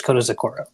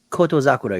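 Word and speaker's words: Kotozakura: There's him, there's Onosato, and there's Kota Zakura. Yeah. I mean, Kota Zakura being the oldest, he's not even 27 yet. He's 26. Yeah. That's Koto Zakura you're talking about, right?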